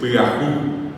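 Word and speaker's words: pyahu: es piau y se escribe p y a hu piau sin tilde, sin usó, sin asalidad, así como escuchabamos p y a hu.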